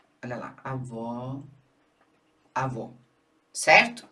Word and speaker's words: avó: O agudo representa o som aberto como aó, não é? E o circunflexo representa o som fechado, como é o caso do avô. Olha lá, avó.